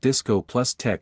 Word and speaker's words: discotheque: Thus Studio 54 being a “discotheques” pronounced Disco + TECH was much like Atari being the first mass market gaming console.